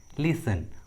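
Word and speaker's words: listen: कुछ common English words में T silent होता है, जैसे Christmas, Christmas, लिसन, often, विसिल।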